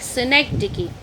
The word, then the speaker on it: synecdoche: Some are pronouncing doke, but it is not like synecdoche.